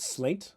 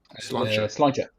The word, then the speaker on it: Sláinte: Is it slaint in Irish, they say? Is that right? Sláinte. Oh, that's how you say it.